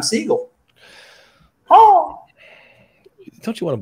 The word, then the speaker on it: Sigal: corner of the comic so the sigil was the big one and that is why I should have always remembered how to pronounce the process of elimination then signals or incorrect pronunciation throw that away seagull doesn't work because my dad so it's Siegel oh don't you want